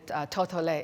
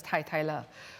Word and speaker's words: Totole: And so, well, you'll hear some of my colleagues call it Totole. It's actually one and the same thing. It should really be pronounced as Tai Le.